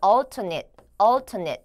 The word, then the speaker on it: alternate: taking an alternate route 이라고 나와져 있는데 여기 발음하실 때 alternate라고 발음을 하는 것이 아니고요. 여기는 alternate 이라고 발음을 해주시면 되겠습니다.